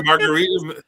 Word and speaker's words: margarita: My margarita. It It defrosted. So, how do you say margarita in Spanish? Margarita. You got to roll that R.